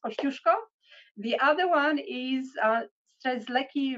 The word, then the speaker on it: Kosciuszko: we always always always correct people one is pronounced Kosciuszko the other one is lucky ranges and it